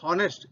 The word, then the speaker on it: honest: So this begins with this word begins with a consonant H, but it is not pronounced as honest. It is pronounced as honest. So it produces a vowel sound.